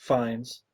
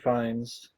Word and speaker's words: Fiennes: Pro Star Ray Fiennes, Fines. Fiennes, another name I can't Ray pronounce. Fines.